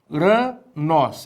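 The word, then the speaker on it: οὐρανός: Uranos. Agora detalhe. Olha o acento agudo aqui no ômicron. Cadê a sílaba tônica? Exatamente aí, o nós.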